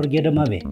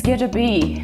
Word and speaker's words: Goedra Bey Yi: Gedabei or Gedamabe? It's Gedabei.